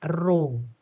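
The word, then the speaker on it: ρ: ini bacanya adalah row nih.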